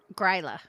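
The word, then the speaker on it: Grýla: How do I pronounce her name again? Gryla.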